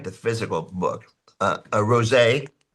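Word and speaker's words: Roget: Uh, a rosé. R O G E T. Cesaris. Took me years to learn how to pronounce that word, but get one.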